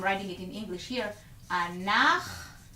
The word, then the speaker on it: אנחנו: it in English here, אנחנו. By the way, CH will be pronounced as ch, which is a letter in Hebrew. In English, you don't have that pronunciation, but in Hebrew you do, and it's this letter right here.